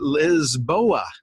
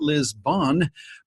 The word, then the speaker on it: Lisboa: crying error Europa and they pronounced that lisboa not Lisbon as we do in America I always